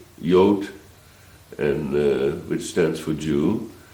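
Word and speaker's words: Jood: of david uh and it's spelled j-o-o-d in holland yott and which stands for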